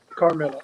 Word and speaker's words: Carmilla: carmilla oh so am i am i actually pronouncing your your bad name correct is it carmilla carmilla yep okay okay i just wanted to make